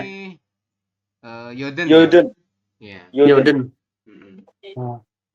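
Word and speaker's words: 여든: 80 Apa di bacanya? sini Yoden ya.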